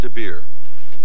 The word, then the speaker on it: de Beer: written and illustrated by Hans de Beer rhymes with root beer yeah you know what